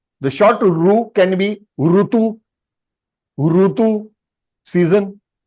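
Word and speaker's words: ऋ: yes this is Ru North Indians pronounce this alphabet as r that is wrong it can be right in Hindi re in Hindi fine but as far as SRAM is concerned it is uru so for example the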